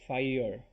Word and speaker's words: fire: curved sound fire so it's kind of halfway between two syllables and one syllable so fi fire if